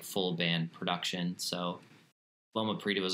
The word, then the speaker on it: Loma Prieta: And with this, because your main single off of this, Loma Prieta, if we're all saying that right, we were all talking about this beforehand, so we made sure we didn't screw it up.